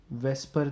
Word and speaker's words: VSEPR: या इसको शॉर्ट में वेस्पर थ्योरी कहा जाता है। ऑल्दो VSEPR है, बट हम इसको वेस्पर ही प्रोनाउंस कर लेते हैं फॉर आवर कन्वीनियंस।